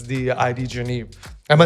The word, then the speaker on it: ID Genève: oh luxury watches oh definitely it's it's the ID genive am I saying it right ID genive yeah you can say that sometimes I just butcher the name so I'm I'm so glad because